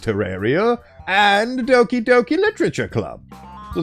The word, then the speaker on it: Terraria: My favorite games are HalfLife 2, Terraria, which is apparently pronounced Terraria, and Dokyoki Literature Club.